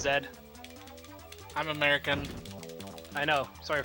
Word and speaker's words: Z: It's pronounced Zed.